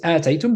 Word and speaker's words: آتيتم: qira'at as well, but we pronounce it ataytum because there is more than one hamza, or ataytum, only one hamza.